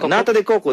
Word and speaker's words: nata de coco: Now they got the I don't know how to pronounce it. Natareko, nataku, Natakoko? Yeah, nata de coco.